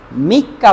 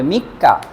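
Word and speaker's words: 三日: কা দিয়ে হলো, মনে করেন আপনি 3 লিখেছেন, 3 এরপরে যদি এই হিয়ের কাঞ্জি লিখেন তাহলে এটাকে মিক্কা পড়তে হবে, মিক্কা।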